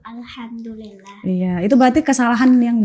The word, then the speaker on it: Alhamdulillah: Kalau aku itu ingatnya cara baca Al-Fatihah tuh awalnya tuh bukan Alhamdulillah, tapi lebih ditekenin lagi jadi Alhamdulillah.